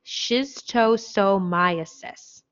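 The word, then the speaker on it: schistosomiasis: you say this just for fun but we pronounce this term shiz toe so myosis shiz chosomiasis shiz toe so myosis okay so this is also known as snail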